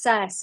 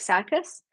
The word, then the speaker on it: Circe: Oh, Circe. It's pronounced Circe. Okay, I'll have to try and remember that. I kept reading it like circus. It's not circus.